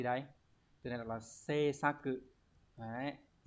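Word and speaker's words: 制作: từ này đọc là gì đây từ này đọc là C sa cự đấy C xá cự này có nghĩa là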